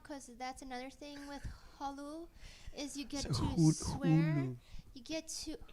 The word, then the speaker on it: Hulu: when they watch episode 3, but because we're on Hulu, I don't think you're pronouncing that. Hulu.